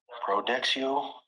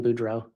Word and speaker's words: Boudreaux: Pronouncing that wrong. Also a driver's license out of Arizona for Brandon. Coming around more. Detective, you recently testified about finding a large amount of credit cards for Brandon Boudreaux. Yes, I believe there you may have mispronounced his name.